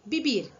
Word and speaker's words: vivir: pedir que é vivir escrevemos vivir porém a pronúncia é bibir então vamos lá o